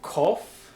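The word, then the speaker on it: קוף: This next letter is a kof. It has a very hard k sound, which really isn't all that different from a cough with a dagesh in it.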